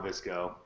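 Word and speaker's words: VSCO: Official Visco. They call it Visco. Boom. Oh, okay. Boom. Who says Visco? Hold on. Visco does, that's who. Why don't they just spell it V-I-S-C-O and just have it be Visco? Why make it difficult? I don't get it. Maybe you should just listen to me. You should just listen to me when I say it's pronounced Visco.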